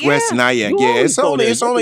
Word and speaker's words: West Nyack: Yeah, it's West Nyack.